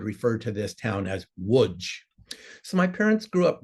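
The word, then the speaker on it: Łódź: the town of LGE in Polish the capital L has a slash through it and is pronounced as a w so a pole would refer to this town as wood so my parents grew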